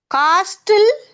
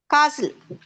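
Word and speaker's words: castle: காஸ்டில் நோ காசில். டி காசில் டி எஸ் T silent ஆயிருவாங்க. ரைட் காசில்.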